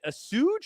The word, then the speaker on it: assuage: doesn't mean SI should, is it assuage or assuage? How do you say that word? Assuage. Assuage, thank you.